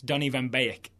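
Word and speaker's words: Donny van de Beek: Yes, we had a Facebook message from Rude letting us know about some Dutch pronunciation. It's Donnie Vanbeek.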